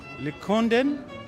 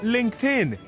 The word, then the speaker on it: LinkedIn: Lincoln. Oh, LinkedIn.